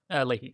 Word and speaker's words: Leahy: Do you pronounce it Leahy? Leahy.